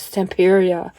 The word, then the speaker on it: Stamperia: I read on their website it's supposed to be pronounced like pizzeria. I read that, I think, on their website. Nobody says it that way. Everyone says Stamperia, like Vampira. Either way, gorgeous, gorgeous papers.